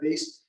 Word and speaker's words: Wies: So remember, in German, when you see a W, it's always pronounced like a V, and V's are pronounced like W's.